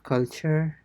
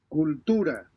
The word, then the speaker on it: cultura: música, cultura, It's not culture. So it is cultura, cultura, cultura, cultura.